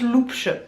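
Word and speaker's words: Loupche: D'ailleurs ça se prononce Loupch. L-O-U-P-C-H-E, Loupch, et mon prénom c'est Lou.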